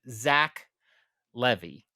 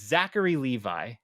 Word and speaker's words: Zachary Levi: place you had hillian I swear I have heard Zach Levy but it's Zachary Levi whatever I don't know